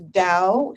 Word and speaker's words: Dao: And my website for the Qigong is Dao, spelled with a D, Dao Qigong Life, QIGONG Life, LIFE.